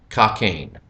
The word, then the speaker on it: Cockayne: That name, Ken Cockayne, will be about the most difficult name we pronounce this evening, and you will want to practice that because obviously there may be a few mispronunciations with how the name is spelled and how the name sounds. It is Ken Cockayne.